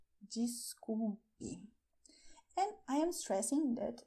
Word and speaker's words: desculpe: In Brazil, we pronounce "DESCULPE" when we say "sorry". And the sound at the beginning of the word is like "jeans" in English: "DESCULPE".